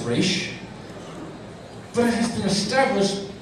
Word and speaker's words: Ra's al Ghul: Because Nyssa, in the most recent episode, says Raish.